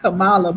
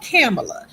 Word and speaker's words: Kamala: My mom say, "Don't be pronouncing that lady name like that." Not Camala, but Camela.